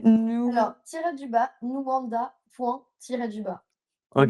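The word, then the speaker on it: Nuwanda: C'est c'est nous alors tir du bas nuanda. Du bas. OK. Nanda ça s'écrit n u w a n d a. C'est comme ça se prononce.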